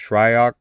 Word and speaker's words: Shryock: name is correctly pronounced shryok just like it's spelled he was often referred